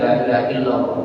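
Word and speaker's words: لا إله إلا الله: La-nya panjang, ya. La ilaha ilah, bukan ilaha, ilaha ilah. Artinya yaitu ilah itu yang patut diibadahi, patut disembah. Ya. Ilaha illallah. Ingat itu, ilah. Illallah. La ilaha illallah.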